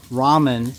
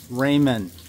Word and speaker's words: ramen: tree so uh FYI the pronunciation is Bonsai just like Ramen is ramen not raymen I think the Giants